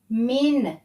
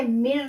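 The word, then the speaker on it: من: मिर लिखा हुआ है ये मिर इसलिए लिखा हुआ है क्योंकि यहां जो है यह मीम और कनेक्ट हो रहे इसलिए यहां स्पेलिंग में एम आई आर लिखा हु मिर ठीक असल में यह मिन है मिन का लज तर्जुमा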